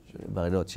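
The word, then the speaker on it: Bariloche: juillet 1980, donc dans comment on prononce en français Bariloch, ça se prononce comment ? Euh Barilotch, d'accord.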